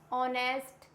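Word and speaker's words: honest: Honour, for example honour, our क्या होता है, ऑनेस्ट, honour, our, eco. Clear हुआ? ये वर्ड्स ऐसे हैं जिसमें एच होता है साइलेंट।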